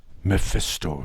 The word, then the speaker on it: Mephisto: It's pronounced Mephisto, Jack. The L is silent.